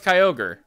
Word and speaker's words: Kyogre: I know it's Kyogre.